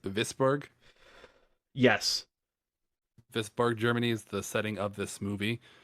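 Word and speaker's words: Wisborg: Yeah, and I think it's pronounced Visburg.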